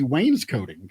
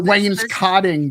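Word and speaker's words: wainscoting: the shelves could be Wayne's coating kind of. Yeah. Or Wayne's cotting depending on how you say it. It's not Wayne's co. I don't think it's that.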